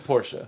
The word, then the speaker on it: Porsche: maybe i'll interchange it sometimes but it's it's porsche yeah it is whatever uh i just asked